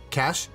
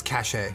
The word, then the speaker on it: cache: fun of Julia because the word cash CH H wait hold on c a c h e like the things you Loot and tarov that are hidden in the ground cash Julia thought you pronounced it as cash a ignore Julia yo yo